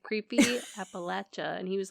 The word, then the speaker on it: Appalachia: lot of it you know our explanation so Appalachia not Appalachia Appalachia okay as okay do you remember the